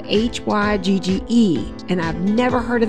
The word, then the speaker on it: hygge: there that said hello something it was spelled h-y-g-g-e and i've never heard of that before so